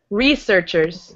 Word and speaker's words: researchers: Researchers. Yeah, and just to emphasize the first syllable. The first part is up.